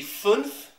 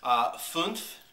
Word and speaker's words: fünf: But anyway, this is the Fünf German Riesling, as the bottle says. We got this for $5.99 at HEB Plus. For those of you who do not speak German, like myself, Fünf, which I did look up and learn how